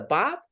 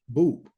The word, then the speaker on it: BOUP: it but it's really Boop and if you I kind of let people say what they want to say but it's boot which rhymes with soup and you know what